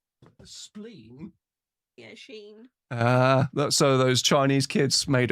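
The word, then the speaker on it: Shein: I got it from an online clothing store that rhymes with spleen. Spleen? Yeah, Sheen.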